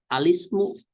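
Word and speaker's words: الاسم: Maka kalau ada seperti ini bacaannya alismu.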